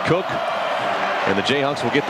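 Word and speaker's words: Koch: It's spelled K-O-C-H, but pronounced Cook.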